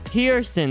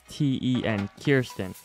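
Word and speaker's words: Kearsten: this p from like what how do i pronounce it lil it's kirsten there you go my guy there you go fiersten k-e-a-r-s-t-e-n kirsten that's phone's name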